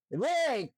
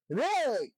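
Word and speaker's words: wreck: রেক, ধ্বংস, ডব্লিউ আর ই ভি কে, রেক শব্দের অর্থ ধ্বংস।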